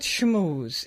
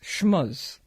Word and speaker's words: schmooze: It's not schmooze, it's schmuzz."